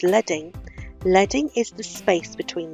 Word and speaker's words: leading: leading you notice it looks like it says leading but it's pronounced leading leading is the space between the rows you've